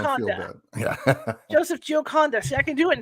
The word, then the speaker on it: Gioconda: I'm well known to mispronounce people's names, so this is nothing new. That's okay. It's Gioconda, so don't feel Gioconda. bad. Yeah. Joseph Gioconda.